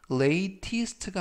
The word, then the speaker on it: latest: 이때 발음에서 latest가 아니라 latest, t 발음을 부드럽게 트가 아니라 르.